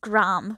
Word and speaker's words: Graham: say it graham but the american pronunciation gram which i never understand as a brit it's graham and always will be um but you know